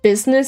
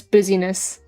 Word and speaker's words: business: But there was one classmate that mispronounced business as busyness. Buzziness.